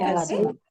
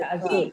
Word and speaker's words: azul: It ends with an L. So the stress on the second syllable.